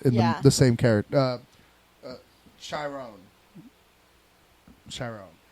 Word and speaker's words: Chiron: Chiron. Oh, it's spelled like that. Okay, so there is a chapter called Chiron. I thought it was Chiron, which is a Greek mythology thing.